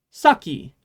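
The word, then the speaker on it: 先: isn't it this word means before and it's pronounced saki um the alcohol in Japan is sake by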